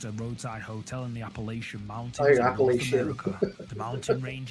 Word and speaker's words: Appalachia: I never I thought it was like Appalachian, but I've heard that they actually people from that region pronounce it Appalachia or Oh, okay. It's not It's not the the sh sound. It's more of a ch.